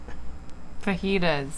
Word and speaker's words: fajitas: enough to uh dish out some homemade vaginas fajitas fajitas that's how you say it i'll help